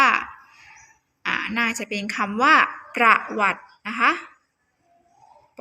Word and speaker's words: ประวัติ: อา ออ วัตต์ มี ประวัติ อ่าน ว่า ประวัติ นะ คะ ต่อ ไป